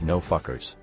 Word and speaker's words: NFKRZ: March 2nd on his YouTube channel called NFKRZ, pronounced No Fuckers.